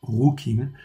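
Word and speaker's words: חֻקִּים: fait juste en dessous rouquine ça se prononce rocking ça veut dire les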